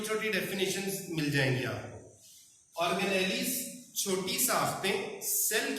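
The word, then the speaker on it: organelles: Pronunciation है ऑर्गेनेलिज।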